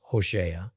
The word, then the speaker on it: Hosea: Now, in the book of Hosea, actually pronounced Hosea, chapter 1, we get a curious story about Hosea being ordered to marry a harlot, a prostitute named Gomer.